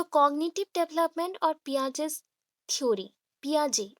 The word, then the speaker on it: Piaget: सो cognitive development और पियाजेस theory. पियाजे, यहाँ पे पियागेट और पाइगेट मत बोलिएगा, ये पाइगेट नहीं है, पियाजे। टी प्रोनाउंस नहीं होगा, पियाजे।